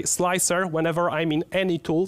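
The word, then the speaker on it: Slic3r: I know it's stylized so that it's pronounced slicer, but there is a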